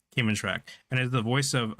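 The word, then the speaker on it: Kmntrac: This is pronounced this is pronounced Cayman track. Cayman track and is the voice of um the Cameron Memorial Navy officer that assigned to guide them.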